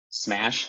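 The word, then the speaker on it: CMash: use this containment minhash concept which is called smash that's how you pronounce that so smash uses k-mer sketches to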